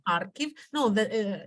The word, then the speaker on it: Kharkiv: was born in harikov in Russian it is pronounced harikov in Ukraine archive no the uh it's